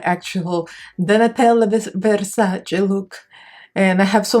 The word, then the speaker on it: Versace: she's here the Nutella Versace and you should put pronounce it correctly not versus not Versace it's Versace I think I could